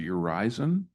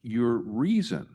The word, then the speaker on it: Urizen: If you go back to your very first image of I think you pronounced it your horizon. I understood yes this one I understood it to be pronounced your reason and that this is